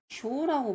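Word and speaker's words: 晶: 정의라는 음가는요 쇼라고 보통 있습니다. 쇼나 조인데 여기선 쇼 쇼라고 읽고요. 쇼나 조인데 조가 아니고 쇼입니다. 그래서 겟쇼 별정이란 단어 있죠?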